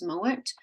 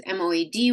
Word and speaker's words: Mowat: It's James Mowat.